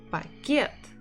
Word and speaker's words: пакет: Should I stress па or should I stress кет? Пакет. Пакет. Пакет. Пакет. It is on the second one.